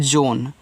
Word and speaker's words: zone: ZONE, इसको पढ़ते हैं जोन, तो जेड से आपका जा, ओ से ओ की मात्रा, यन से ना, इसका उच्चारण करना नहीं है, तो ये आपका जोन हो गया।